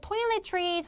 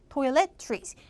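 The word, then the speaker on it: toiletries: 발음 하시게 쉽게 하려면은 토일렛 플러스 나무 이렇게 발음하면 돼 toil trees toilet trees 합쳐지면 toilet trees toil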